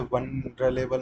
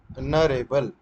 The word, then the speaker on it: vulnerable: जैसे वनरेबल, मैंने उस दिन भी बोला वल्नरेबल, जबकि मुझे स्पेलिंग्स आती है। ठीक है। VULNERABLE, ठीक है, RABLE, वल्नरेबल, वल्नरेबल, सोफिस्टिकेटेड।